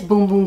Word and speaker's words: Bum Bum: crazy when i say boom boom cream except that's how you say it in brazil it is boom boom cream it's not bundling